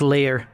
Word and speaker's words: lyre: I believe it's pronounced Lear. Liar. A lyre, it's a lyre, yeah.